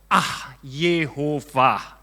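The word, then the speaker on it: יהוה: Nah, terus bacanya Yud He Vav He itu gimana? Ya, bacanya itu gini. Yod, Yihye. Ya, sebut. Ye. He. Apa? He sama Vav. Hove. Ya. Hove. Ya, jadi Hov. Ya, tadi apa? Ye. Hov. Terakhir apa? Haya. Ah. Jadi Yev, Hov, Yehovah.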